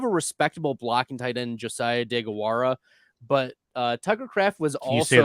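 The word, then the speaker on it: Deguara: respectable blocking Titan Josiah dagawara but uh tigercraft was also that name again for me please Josiah de gawara that's pretty good pronunciation thank you I was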